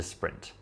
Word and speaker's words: sprint: And you can guess it means it's a marathon, not a sprint. And in case you're wondering, we pronounce it sprint instead of sprint because it's an English word that the French have borrowed instead of having to say une course rapide, right?